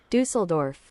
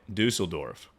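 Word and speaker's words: Düsseldorf: Dusseldorf. That's how you say it. Dusseldorf.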